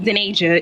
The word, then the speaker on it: Denasia: If you know how to read, my name is pronounced Denasia. If you want to.